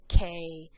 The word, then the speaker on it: que: Remember, anytime there's a Q and U together, it makes a cuss sound. So make sure you're pronouncing these correctly. Que, quien.